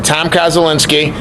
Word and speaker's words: Koszulinski: Tom Koszulinski. Did I say it right? Correct, yes. Okay, Tom Koszulinski.